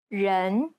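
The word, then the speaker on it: 人: three pronouncing people incorrectly many people tend to mispronounce the e sound in the word people they commonly substitute it for the English e as in red this is incorrect the Chinese e sounds more like an uh sound yen it's identical to the e sound at the end of the word problem in fact the Chinese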